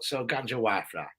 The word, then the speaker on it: Gangewifre: There's probably a correct way of pronouncing it, but that's the way I pronounce it. So Gangewifre, yeah.